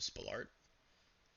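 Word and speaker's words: Spalart: So, we're going to use the Spalolart. That's how you pronounce it.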